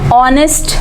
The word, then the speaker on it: honest: So hence we have written A here, but here the H is silent. So that's why we write an here. An honest man.